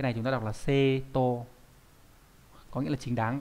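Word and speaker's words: 正当: này ra đúng nhỉ, cái này chúng ta đọc là seto có nghĩa là chính đáng các bạn nhé.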